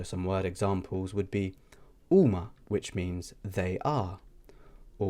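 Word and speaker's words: huma: Next, we have the akka, which is also a silent letter in the Maltese alphabet, and this is also not pronounced. So some word examples would be uma, which means they are.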